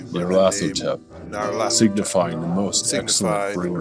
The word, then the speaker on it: Nyarlathotep: Nyarlathotep. Yeah, you have to say it's that. Very nasally. It's like comes through the nose. Yeah. Nyarlathotep.